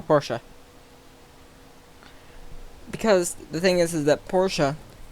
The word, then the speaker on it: Porsche: And then also, I kind of saw the lines of a TVR and a Porsche. And yes, I know that's not how you spell Porsche.